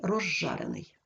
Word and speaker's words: розжарений: ним іде шиплячий Але у вимові свистячий з уподібнюється до ж шиплячого і ми вимовляємо ж подовжений Рож жарений розжарений ще одна особливість якщо